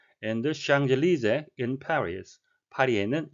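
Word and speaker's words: Champs-Élysées: famous이 유명한 거리를 따라 샹젤리제 여러분이 잘 아시는 프랑스 거리의 이름인데요 피는 발음되지 않았고요 s는 뒤쪽과 여름이 돼서 샹젤리즈라고 발음이 되겠습니다 보시는 것은 개선문을 포함한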